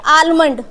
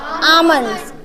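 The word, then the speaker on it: almond: क्या बोल रहे थे आलमंड ये इसकी जो करेक्ट प्रोनंसिएशन होती है क्या होती है स्टूडेंट्स आमंड ठीक है क्या होती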